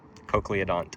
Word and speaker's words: conodont: Conodont. Cono- cono- Like a Coca-Cola, conodont. Conodont. Yeah, but it's not spelled like Coca-Cola.